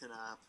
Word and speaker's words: Knapp: But he actually said, do you actually pronounce your name Knapp, or did they pronounce it funny on the show? No, we actually pronounce it Knapp.